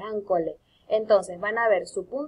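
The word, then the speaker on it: accolé: Esa palabra me costó mucho pronunciarla, es ancolé.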